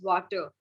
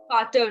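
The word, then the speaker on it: Vater: it's more water okay you can't pronounce it as water it is fatter now because the b the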